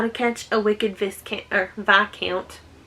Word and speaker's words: Viscount: How to Catch a Wicked Viscount. How it's written is not how you say it.